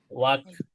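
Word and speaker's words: walk: যেমন আমরা কি বলি? ওয়াক, ওয়াক লিখে কি হবে? ডব্লিউ এল কে, এল এর সাউন্ড কি করি না আমরা? করি না, তাই না?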